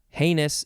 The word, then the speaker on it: heinous: crying need two synonyms are notorious and heinous heinous is spelled h-e-i-n-o-u-s as in a crying shame oh